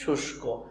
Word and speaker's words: শুষ্ক: তাহলে এই রস্যকারটা দেওয়াই আছে, তাহলে শুষ, এই কয়েকবারে শুষ্ক, শুষ্ক, এর সঠিক উচ্চারণটা হচ্ছে শুষ্ক।